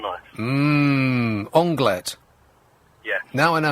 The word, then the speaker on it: onglet: If it was a French restaurant, I would probably say anglais. Yeah, so I said anglais grillé, which is completely wrong.